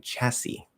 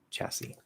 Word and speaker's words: chassis: a lot capybara and chassis the second s is silent chassis um you can literally